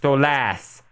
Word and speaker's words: Stolas: hell I heard that stus name is pronounced stolas therefore artist drawing him